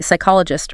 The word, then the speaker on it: psychologist: Silent P, psychologist, receipt.